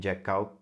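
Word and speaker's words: Jekyll: região um homem chamado Henry jackal ou jackel como eu preferi chamá-lo né em vez de jackal que eu vi no YouTube que é a pronúncia correta vamos se deparar com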